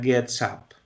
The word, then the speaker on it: gets up: Entonces en la pronunciación yo lo que hago es poner ese sonido del S, esa S de gets, la pego del up, que sigue aquí y suena gets up.